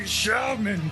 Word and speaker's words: Shalman: It's me, Shalman, pronounced with a hard shh.